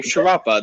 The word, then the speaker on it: Sharapova: next hi i'm sharapova that's how you pronounce my last name it's also my channel